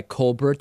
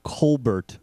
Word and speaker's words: Colbert: guess she's going by Colbert I'm not sure how she's pronouncing it in ton uh I think she's saying Colbert Bush yeah she's not doing that fake french thing that Steven does in any case she